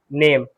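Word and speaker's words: name: Bike, ride, नेम, नेम में एन एम पढ़िए, नेम, ई क्या है, साइलेंट है।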